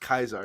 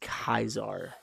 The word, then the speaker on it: Caesar: Caesar oh that was Julius Caesar yeah it's pronounced Kaiser you know that it is not pronounced kaizar are you being serious hold on Julius Caesar